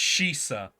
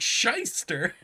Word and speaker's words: shisha: It's pronounced Shisa. Okay. That makes more sense. I'm looking at that. I'm like, that looks like shyster.